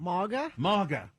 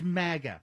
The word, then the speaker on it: MAGA: what must go is journalists pronouncing the first a in Maga like a in awesome MAA MAA no this is the very definition of polishing a turd it's Maga you know like maggot exactly and you know